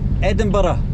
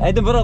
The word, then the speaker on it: Edinburgh: But you need to pronounce like this, Edinburgh. Edinburgh? Edinburgh, like this, yes. Don't say Edinburgh, say Edinburgh. Ah, because of Borough.